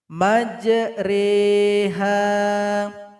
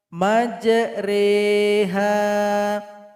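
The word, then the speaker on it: مجراها: surat hud ayat 41 majreha majreha beda penulisan sama cara baca Mari kita lihat Quran cetakan Indonesia dan Quran cetakan Madinah perhatikan Quran cetakan Madinah dibawah huruf ro ada tanda ketupat kecil maka ini imala miringkan bunyi huruf roknya dan dipanjangkan dua harokat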